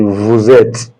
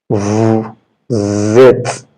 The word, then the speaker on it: vous êtes: That means you are going to turn this S to Z for pronunciation. It's going to be vous êtes. Vous êtes.